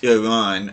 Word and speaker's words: Iran: Well, it's actually supposed to be pronounced Iran, but I say Iran. I apologize for any Iranians that are watching this, but that's just how we say it here in the U.S.